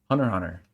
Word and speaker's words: Hunter x Hunter: So the next one here is Hunter x Hunter. I don't pronounce the X. I know some people do.